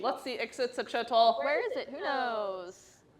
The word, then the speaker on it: Ixitsachitl: Very close. There's one more syllable in there that you need. Let's see Ixitsachitl. Where is it? Who knows? Other way. There it is. Ah! Ixitsachitl.